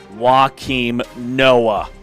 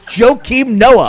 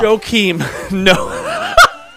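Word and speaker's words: Joakim Noah: Pronounce his name right. He's not Phoenix. It's Joe Noah. Joe Noah. I was thinking of walking. His nickname is Joe. Not W. No.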